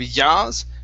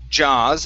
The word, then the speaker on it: jaws: So here, instead of yaws, jaws, and then with closed, instead of closed, it's an O sound.